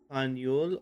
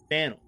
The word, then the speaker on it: Faneuil: Don't let the French spelling confuse you. The name of the building is pronounced Faneuil or Fanel.